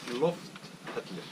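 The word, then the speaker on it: Lofthellir: Lofthedlir. Lofthedlir. It's like the double L on Hedlir. It's like you put like a D and L, like Hedlir.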